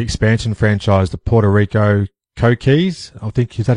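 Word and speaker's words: Coquís: playing with the expansion franchise, the Puerto Rico Coquis. I think, is that how you pronounce it? Yes, the Coquis.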